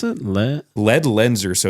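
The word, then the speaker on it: Ledlenser: gear especially for this year how do you pronounce it Le lead lenser so it's l l n s r and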